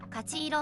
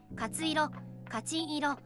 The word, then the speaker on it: 勝色: Today’s featured color is Kachi-iro (褐色・搗色), known as a lucky and auspicious color. It is pronounced “kachi-iro,” but it can also be read as “katsu-iro” or “kachin-iro.”